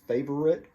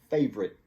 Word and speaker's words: favorite: favorite like i said it's really three syllables favorite but a lot of times people take out the middle syllable and it just sounds like favorite favorite so my favorite